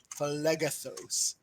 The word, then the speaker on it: Phlegethos: Phlegethos. Yes, that's how it's pronounced.